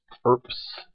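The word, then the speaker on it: urbs: Then erps, erbis. So you're supposed to actually pronounce that like a PS.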